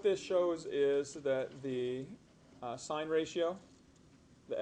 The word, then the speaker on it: sin: This represents sine. And the sin, when it's written sin theta, it's actually pronounced sine of theta.